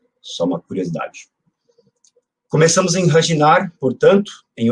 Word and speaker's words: Răşinari: Para quem se interessa por pronúncia, é uma coisa interessante da língua romena, que muitas das letras I, sobretudo em final de palavras, a palavra escreve com I, mas o I não sai na pronúncia, como, por exemplo, o nome da cidade onde Turan nasceu, né? Então, não é Razinari, mas é Hradinar.